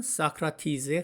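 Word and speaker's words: Socrates: 영어 발음은 사크라티es즈에 가깝죠.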